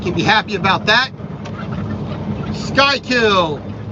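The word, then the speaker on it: Schuylkill: be happy about that sky kill s-c-h-u-y-l style don't ask me why it's spelled that way but it is so this is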